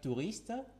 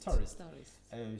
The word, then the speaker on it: tourist: Euh touriste, tourist tourist. Euh c'était juste pour préciser qu'on ne dit pas touriste.